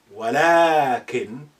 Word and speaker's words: ولكن: You say ولكن, but you write ولكن without lengthening alif. But you have to say it like this. ولكن, but you don't write it with lengthening alif.